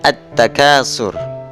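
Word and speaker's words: التكاثر: alsyamsiah bertemu dengan huruf Ta Maka lebur dibaca at-takasur Ini contoh hukum bacaan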